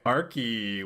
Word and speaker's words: Archi: So it is pronounced Archi.